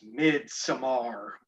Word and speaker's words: Midsommar: Midsummer. This movie is Midsommar. Let's just get all the pronunciations out.